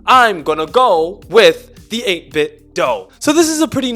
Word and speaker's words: 8BitDo: to be reviewing the 8-bit dole ultimate controller and yes i pronounce it as the 8-bit doe not the 8-bit do